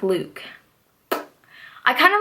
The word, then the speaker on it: Luc: I always called him loose cuz his name is spelled Luc but I found out that you actually pronounce his name like Luke I kind of like